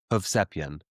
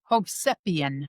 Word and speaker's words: Hovsepian: Yeah, though the I-A-N at the end is pronounced like Y-I-N. So it's 3 syllables. Hov, Sep, Yin. Ho That's a Hovsep little, yeah, that's like the Armenian. If it's Armenian, if you see I-A-N on the end of a last name, it's pretty much Armenian, and it's Alright. pronounced Y-I-N.